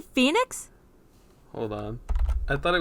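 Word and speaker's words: Fenyx: Wait, is it not Immortals Phoenix Rising? Is that how you say Phoenix?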